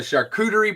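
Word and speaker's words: charcuterie: So, the shakuderie board or however you shakurerie. Yeah, that's how you say it.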